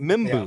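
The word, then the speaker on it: Membou: Do you pronounce it Mimbu? The offensive lineman from Missouri. I think. Mizzou. Yeah, Armand Mimbu. Mimbu. Yeah. That's how you pronounce it, right?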